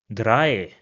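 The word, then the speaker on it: drei: have similar pronunciations and both of them are pronounced as I in English. So for example this word over here will be pronounced as dry which means three d. Another example will be bine which means leg bine.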